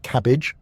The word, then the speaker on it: CABG: In more complex cases or when multiple arteries are involved, doctors may recommend coronary artery bypass grafting or CABG, pronounced cabbage.